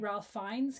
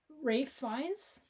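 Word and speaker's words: Ralph Fiennes: And the halfway point where we meet, is it halfway or whatever where we meet Ralph Fines character? Rafe. Rafe fines. I've been saying it wrong my whole life.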